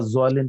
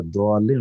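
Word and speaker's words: الضالين: অতএব ওয়ালা জোয়ালিন পড়লে কোনো ভুল নাই, ওয়ালা দোয়ালিন ওয়ালা জোয়ালিন বোথ আর কারেক্ট।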